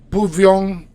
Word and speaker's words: pouvions: And then for for nous, you pronounce it pouvions, pouvions.